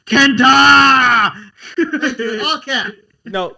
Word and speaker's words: KENTA: Kenta.